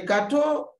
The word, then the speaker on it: gâteau: Le gâteau, there's accent on the A, but it keeps the same sound A.